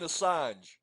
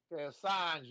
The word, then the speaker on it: Assange: Julian asse head ass head whatever his Julian Assange Assange man but ass head's better guy saying he's